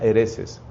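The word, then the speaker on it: haereses: En latín se dice adversus, con B corta, adversus a hereses, que se pronuncia hereses.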